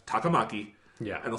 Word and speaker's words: Takamaki: see the name and I know Japanese pronunciation. And I know that's Takamaki. Yeah. And they'll say Takamaki.